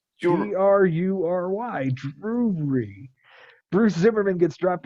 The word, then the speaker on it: Drury: I think you're adding like 3 syllables to that. I don't think so. Drury. Drury.